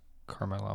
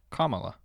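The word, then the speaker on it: Kamala: I'm trying to read it's not Carmela well I know that it's I think I'm saying saying it right oh comma that's how it's pronounced that's what it says it's not camula and it says well I feel like that's pretty obvious her name is pronounced and then it says quotations comma la like comma like the so comma all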